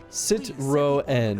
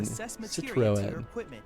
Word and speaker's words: Citroën: It's pronounced Citroën. Citroën.